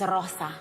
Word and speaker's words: Rosa: She introduced another alter ego, Rosa, pronounced with an exaggerated R, to commemorate her December 2010 appearance on Lopez Tonight. She is Nikki. Who is that? Her name is Rosa.